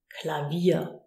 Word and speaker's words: Klavier: And Klavier is such an example, where we use the V like a V, Klavier.